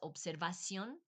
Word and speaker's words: observación: It probably should be pronounced observación, but I know here in Bolivia, they'll take the V and make it a B.